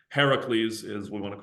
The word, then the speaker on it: Heracles: It's not Hercules, that is his Roman pronunciation. Heracles is what we want to call him if we're using his Greek pronunciation.